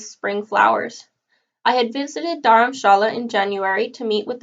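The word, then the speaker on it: Dharamshala: top of the Indian Hindu City daram Shala daram Shala as it is pronounced in Hindi means spiritual dwelling combining the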